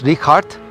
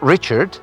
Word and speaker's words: Richard: His name is Ricard, not Richard because he's German. It's in hard H. and stra in German st makes the t sound. Soart strauss it's not Richard it's not stra or